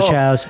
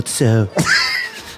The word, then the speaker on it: Tso: General Chow's was a great man. I believe it's pronounced General Tso.